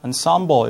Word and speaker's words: ensemble: 이게 이제 그냥 원어를 그대로 우리는 또 우리말로 표기하기 때문에 우리 앙상블이라고 하는데 영어로 이제 ensemble 이렇게 발음을 할 수 있습니다.